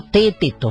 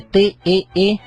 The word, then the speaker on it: Teeteto: Porque en ese diálogo está Sócrates charlando ahí con sus discípulos, y medio Teeteto, se escribe T-E-E-T-E-T-O, Teeteto, y como que le preguntan a Sócrates: maestro, ¿nos explica qué es la filosofía?